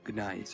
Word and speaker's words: Gnaeus: I don't know why, but I'm not sure exactly the reason why, but you have to say it, Gnaeus.